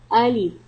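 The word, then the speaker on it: ألف: Alif. Alif. Alif pronounced from the bottom part of the throat.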